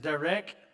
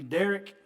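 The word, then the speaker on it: דרך: The next one is 1870, which is actually pronounced Derek, or it could be Derek, which means journey, road, or the course of life is what it means.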